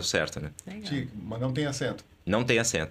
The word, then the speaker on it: Chérico: Pois bem, então hoje, Chérico, da Tírico. Tírico. Tírico, Tírico. Tírico, italiano. Escreve-se Chérico, né? Mas a pronúncia italiana é Tírico.